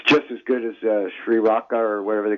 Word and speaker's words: Sriracha: Sriracha, yeah.